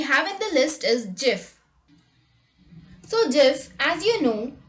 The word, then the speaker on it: GIF: which he says it's not gif but it's jif typing into this year's webby for lifetime achievement